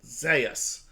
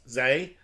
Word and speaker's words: Zeus: Although it's spelled Zeus, they pronounce it Zas. Zeus S. Zas.